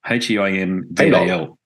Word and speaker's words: Heimdal: It's called, and I'm going to stuff it up, so you correct me on my pronunciation, Heimdal, H-E-I-M-D-A-L.